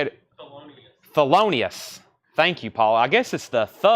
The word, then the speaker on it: Thelonious: Theolinius Monk.